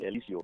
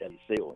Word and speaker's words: Eliseo: They pronounce the Spanish people pronounce the E as the A, so it's Eliseo, even though it's spelled Eliseo.